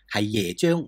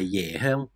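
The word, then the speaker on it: 椰香: pronunciation to be accurate, it is Yē xiāng, not "Yè xiāng"!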